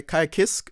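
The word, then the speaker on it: Ky Kiske: list okay nice so we go for kai kai kisk is that how you say it yep okay let me yeah kai kisuke so he's balanced as well and he has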